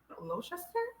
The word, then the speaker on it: Gloucester: Cester is pronounced stir. Cester. Yeah. Leicester. Worcester. Gloucester? Worcester. It's not cess. It's Stir.